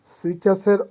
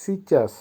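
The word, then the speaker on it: сейчас: সিচাস, সিচাসের অর্থ হবে এখন। উচ্চারণ হবে সিচাস, সিচাস।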